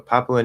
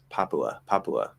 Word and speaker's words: Papua: few countries okay so papua new guinea papua it's not really blended like that papua i guess you could